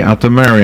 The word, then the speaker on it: Altomare: out to Mary and I apologize so if I'm mispronouncing your name good morning no your pronunciation is perfect on both accounts both my name and thrombocytopenia you said it like